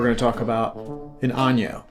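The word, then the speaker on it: añejo: multiple times in the video it is not pronounced ano it's pronounced ano just to save you some typing in the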